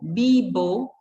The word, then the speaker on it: vivo: Falou, vivo, o V com som de B quer dizer, né? Vivo, ou eu moro, vivo.